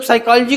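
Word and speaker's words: psychology: रहे हो कई लोग साइकोलॉजी को साइकोलॉजी पढ़ लेंगे यह जानने की इच्छा नहीं है कि इसमें पी साइलेंट क्यों है है कि नहीं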